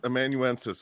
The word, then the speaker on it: amanuensis: Even Phronesis though wasn't terribly difficult to pronounce, but like I'm still not sure that I know how to pronounce what's the amanuensis. Amanuensis.